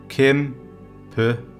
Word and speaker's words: kæmpe: I'm going to take them word by word in syllables. So the first word is kæmpe, kæmpe, and then the word kæmpe.